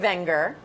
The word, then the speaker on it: Wenger: together as Swiss Army knives but the brand Wenger that's how it's pronounced as I learned last night from Wy